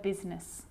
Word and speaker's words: business: or rhyme good news that I is not usually silent it's usually pronounced except in the word business okay okay now I